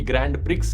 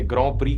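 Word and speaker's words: Grand Prix: यह शब्द देखने में लगता है कि इसकी प्रोनाउंसिएशन होगी ग्रैंड प्रिक्स लेकिन फ्रेंच शब्द है तो इसे ग्रो प्री कहते हैं।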